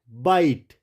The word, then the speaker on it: bite: तो उसका रूल है जब भी ई वर्ड के लास्ट में होगा, अंत में होगा, तो ई क्या होगा? हमेशा साइलेंट होगा। जैसे मैंने यहाँ लिखा MEAKE, यहाँ पे MEAK, मेक, ई क्या हो गया? साइलेंट। जैसे एक और लिखते हैं BITE, बाइट, ये क्या हो गया? साइलेंट हो गया।